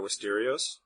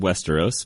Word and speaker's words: Westeros: character would win Survivor Wisterios and John I'll let you start. I think it's called Westeros, but that's my thing. I don't see an I in Westeros, but you know, pronounce it like Cheerios.